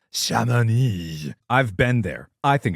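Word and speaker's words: Chamonix: Twice have you mispronounced C H A M O N Ix? I don't know. Uh, I've tweeted this to you telling you how to pronounce it. And you saw it. It's Shamoni. Shamani.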